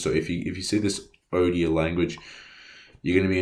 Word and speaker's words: Odia: It's called Odia, O-D-I-A, it's spelled.